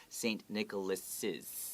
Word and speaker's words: Nicholas's: and then s you you read it like this let's do it without the apostrophe s first you read saint nicholas saint nicholas todd saint nicholas's saying necklaces i know it sounds weird to have so many s sounds but we have to really emphasize that to let people know